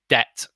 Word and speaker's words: debt: we don't say debt this b is silent debt okay and as you